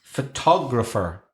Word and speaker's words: photographer: It's photograph, but it's photographer. So photograph, the second syllable, photo, it's a schwa, isn't it? It's that sound, that really lazy sound. But in photographer, it's a different vowel sound.